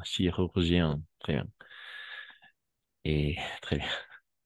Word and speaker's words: chirurgien: n'aurais pas voulu devenir chirurgien alors tu peux prononcer chirgien ah ch ch ch chirurgien très bien chirurgien très bien et très